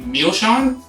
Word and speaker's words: Milsean: And then next one we have coming up is the Milsean, pronounced, I believe that's the pronunciation, as per Glenmo's website, because meal, M-I-L, Shawn, S-E-A-N, why not?